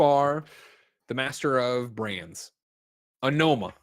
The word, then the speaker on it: Onoma: Onoma, that's how you say it.